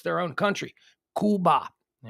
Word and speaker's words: Cuba: show them the respect of the way they pronounce their own country Kuba all right uh on this day in 1973